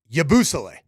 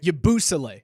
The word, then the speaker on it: Yabusele: we learned is Gershon, his last name pronounced as Yabusele. Right, correct, right? Yabusele. As in Cabusele. As in the Cabusele.